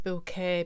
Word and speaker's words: Bucket: keeping up with appearances her name was spelt mrs bucket but she liked to pronounce it mrs bouquet because it gave a